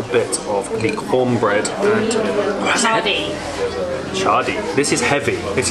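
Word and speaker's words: mchadi: So it's like a bean soup, and then we have chadi. For some reason they didn't pronounce the M, which is how it's spelled, but it is like a deep fried cornbread.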